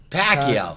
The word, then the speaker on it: Pacquiao: has a chance or pako how say his name I forgot how do you say the name John Pacquiao Pacquiao Pacquiao yeah Pacquiao Pacquiao when you next weekend